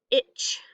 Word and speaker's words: itch: So this T in the ch, itch, I don't hear that T, the silent W, the silent K.